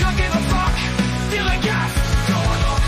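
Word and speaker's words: DILLIGAF: A word, Gilligan, that's spelled D-I-L-L-I-G-A-F, Gilligan.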